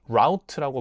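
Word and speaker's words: route: 어, 여기 마이그레이션 root.이 이 루트라는 단어는 저는 처음에는 루트라고만 알고 있었는데 또 다른 발음이 있더라고요. 그게 라우트라고 말하기도 해요.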